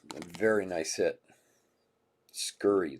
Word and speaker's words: Scurry: Wow, for the non-baseball spot to 25, 17 of 25, Brianna Surrey. A very nice hit. Scurry, that's how you say her name. There's a C in there.